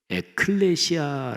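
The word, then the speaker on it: ἐκκλησία: 먼저 교회 교회 란 단어는 신약성경의 언어인 헬라어로 에클레시아 라고 발음합니다 저희 타 너는 두 단어가 합쳐진 말입니다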